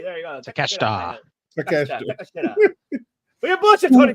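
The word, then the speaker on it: Takeshita: Takashita. Takashita, all right? Takashita, I'll say. There you go. Takashita.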